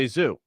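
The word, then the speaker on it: Gesù: Jesu. So, excuse me? The church's name is it's the Church of Jesu. I was baptized there. Jesu.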